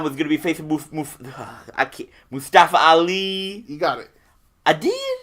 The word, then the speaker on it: Mustafa Ali: We already talked about him, but I think when everybody heard that Daniel Bryan was going to be facing Mustafa Ali.